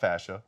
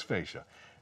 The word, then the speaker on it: fascia: fascia fascia face yes I was just told I've been saying it wrong my entire life it's not fascia it's fascia just another nice little feature